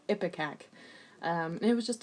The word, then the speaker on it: ipecac: started using an emetic I don't know how you say it ipecac or something I just googled it it's epic AK it was just like